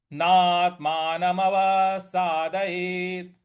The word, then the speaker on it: नात्मानमवसादयेत्: यहां पे ना के बाद त है, उस पे थोड़ा सा बल लगाएंगे। यहां पे भी हम आघात देंगे। नात्मानमवसादयेत्।